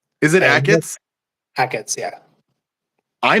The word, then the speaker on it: Achatz: Grant Achatz. Yeah, Grant. I thought it was a Shots. Is it And Ackett's? Hackett's, yeah. I mispronounced his name to his face then.